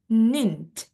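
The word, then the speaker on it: ninth: Kalau 9 kan dia nine, tapi karena dia ordinal number bacanya dia nint seperti itu.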